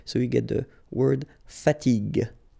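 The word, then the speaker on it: fatigue: uh so as we said here you should pronounce it g g okay so you get the word fatig fatig okay second possibility here you've got this accent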